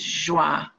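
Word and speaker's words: Joie: to share feel free in French my name first name is pronounced schwa and many are familiar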